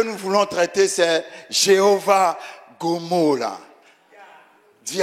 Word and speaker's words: G'molah: Ça s'écrit G''M''O''L''A. Mais on prononce Gomola. Enfin, moi, je prononce Gomola.